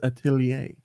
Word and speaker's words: Atelier: I tell yer Aisha I learned that it's Atelier Atelier Aisha the alchemists of